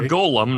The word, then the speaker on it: Golem: Or Golem, not Gollum, like precious. It's like Golom, I think is how it's spelled.